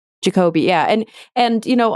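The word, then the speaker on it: Jacobi: Crumpler Mary putam um is it pronounced jacobe jacobe yeah jacobe yeah and and you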